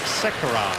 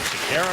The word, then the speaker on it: Sekera: He changes the pronunciation of his name each year from Sekera to Sekera. In Carolina was Sekera, then he changed it to Sekera. Now it's back to Sekera.